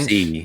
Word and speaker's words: Mercy: It's Mercy. So like the French. Merci.